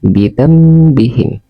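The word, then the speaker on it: بِذَنۢبِهِمْ: Bidan bihim. Bidan bihim. Nun mati bertemu dengan huruf ba. Cara membacanya bidzambihim.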